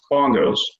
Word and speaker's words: BNGOS: For example, the spelling of the BNGOS departure is pronounced bongos.